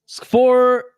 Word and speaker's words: Škvor: Škvor, I think the K is silent.